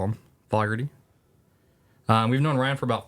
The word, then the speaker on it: Fogarty: So you said Fogarty, it's Fogarty. Fogarty. Fogarty. Is that how you say it in New York? Yeah, and it does look like Ryan Foggs, but it's Ryan Fogs, but still, it's how it goes, dude.